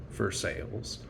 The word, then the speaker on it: Versailles: south east of pittsburgh spelled like their sigh pronounced for sales it's amazing to me